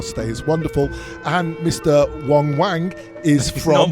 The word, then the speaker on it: Wang: Wang. Wong. It's spelt Wang, pronounced wrong.